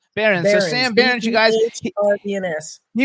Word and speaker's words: Behrens: That's so you guys, just so we know who you're talking about, how do you pronounce his last name? Behrens? Your last name? Behrens.